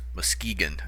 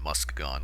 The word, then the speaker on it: Muskegon: lights of Milwaukee from Mus Moskegan, I think is how she pronounced it. I I think I called it Musk gone.